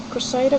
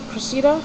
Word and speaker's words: Cressida: next one is cressida i think you pronounced it crusader cressida i think it was cressida because i thought you said christina at first and then i seen